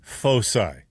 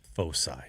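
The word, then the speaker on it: foci: One of the great words in the English language, fosi. Double I spell it. F O C I I two focuses if you will. Oh, the plural of focus. Fosai. Focus. Yeah. Not hardc.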